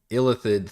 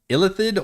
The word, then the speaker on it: Illithid: By the way, do we pronounce it Illithid or Illithid? And is that, maybe that's just a like European pronunciation? Because Baldur's Gate does Illithid, and I have never been able to make peace with that.